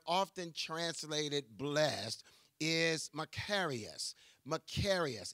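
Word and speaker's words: μακάριος: the Greek word often translated blessed is macarius macarius it's spelled m a k a r i oos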